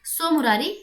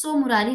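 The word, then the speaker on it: Tso Moriri: चलिए आगे बढ़ते हैं दूसरे लेक के बारे में, सोमरारी लेक। देखिए सोमरारी में जो स्पेलिंग होती है यहाँ पे टी साइलेंट होता है, TSOMORI लेक। ठीक है, तो इट इज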